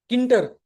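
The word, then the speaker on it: Tkinter: टी उसमें silent है टी के आई एन टी आर किटर नाम का आता है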